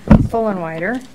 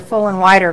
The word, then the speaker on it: Fullenwider: Well, my name's Fullenwider, and it's spelled wrong. It's always spelled wrong. I can't imagine. It's a catchy little name. You're full and wider, like after you eat, you're full and wider.